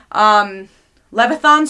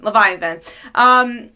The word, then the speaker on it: Leviathan: in that current event in Leviathan not loveth um Leviathan not really invested in